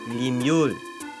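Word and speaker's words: limule: It is pronounced limu l i m u l e because they didn't really have a word for it because there's no horseshoe crabs in France.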